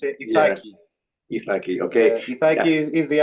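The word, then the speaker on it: Ιθάκη: Ithaca is the English word. For the Greek language is Ithaki.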